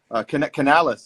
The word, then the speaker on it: Canales: Canales is how it's pronounced, right?